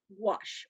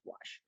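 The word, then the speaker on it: gouache: had questions here about wash which is how it's pronounced um it's french so yes it looks really weird but that's why it's pronounced wash now wash is specifically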